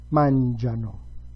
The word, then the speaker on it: mangiano: E loro mangiano. I'm taking this opportunity to signal, to underscore that the very last form, loro, takes the stress on a different syllable.